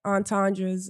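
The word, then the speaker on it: entendre: of like like real lyricism type like different entandras.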